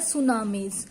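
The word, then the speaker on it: tsunami: देखिए इसमें ये वर्ड जो है स्टार्ट तो टी से होगा, बट हम इसका प्रोनाउंसिएट टी सुनामी नहीं करेंगे. इसकी प्रोनाउंसिएशन क्या है? सुनामीज.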